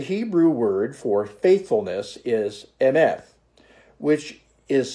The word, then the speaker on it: Emeth: Emeth. In English, we would spell that E-M-E-T-H. Emeth.